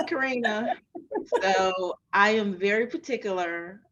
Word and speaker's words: Karena: I can't tell you how many Karens, Katrina, Karena, They just always all get kinds of things. Mhm. I'm like, no, it's Karina.